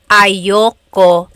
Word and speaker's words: ayoko: Usually it's pronounced ayoko siya. So if you want to sound a little bit more natural, you put everything together, ayoko siya.